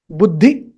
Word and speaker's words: बुद्धि: Buddhi. Shorten it.